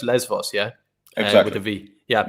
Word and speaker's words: Lesbos: bit the islands you have less force it's pronounced lesbos yeah exactly to be yeah yes so they're